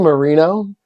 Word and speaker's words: Moreno: it's it's actually Marino. It's Marino. a weird thing. Okay. My name is spelt wrong. They messed it up coming overseas. My grandfather came overseas, Ellis Island or whatever. Um, so I say Marino because I'm Italian, but the spelling doesn't necessarily reflect it.